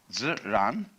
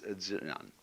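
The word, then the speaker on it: 自然: We use the word nature for the Chinese expression zi, ziran. They pronounce J like a sort of unrolled R.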